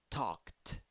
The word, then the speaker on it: talked: Ed is pronounced like t. Why? Because it is following K. So after K, you have T. Kt, talked, talked, talked.